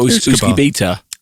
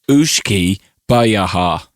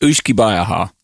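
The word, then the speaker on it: uisce beatha: So I would say that's Ooshkie or Ooshkie Beta. No, it's Ooshkie. All right. Well, it says here it's pronounced Ooshkie Bayaha. That's what it says on the website. Pronounced Ooshkie Bayaha. Ooshkie Bayaha.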